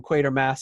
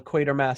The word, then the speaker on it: Quatermass: is the manager of Quatermass, and the announcer calls it Quatermass, and she goes, Quatermass. She says it's pronounced Quatermass because that's the way it's spelled.